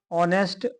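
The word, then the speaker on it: honest: तो इसमें correct option आपका हो जाएगा ऑप्शन नंबर बी क्योंकि इसमें एच साइलेंट है और जो साउंड आ रहा है वो आपका ओ से आ रहा है।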